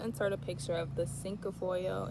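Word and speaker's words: cinquefoil: And um yeah, then I'll also insert a picture of the sink foil. It's pronounced c i n q u e f o i l.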